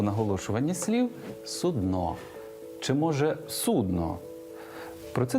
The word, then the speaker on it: судно: І посудина для лежачих хворих, і корабель все одно судно з наголосом на о. Слова судно в українській мові немає і ніколи не було. І ось вам фраза для запам'ятовування наголосу. Російське судно пішло на дно.